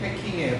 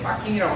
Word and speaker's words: 패킹: 일본말로는 패킹이 P자 발음이 안 나니까 빠킹이 패킹이에요. 빠킹이라고 하면 안 돼요. 패킹이 정확한 발음. 빠킹이 아니고 뭐예요? 패킹. 따라서 패킹. 빠킹이 아니고 뭐라고? 패킹.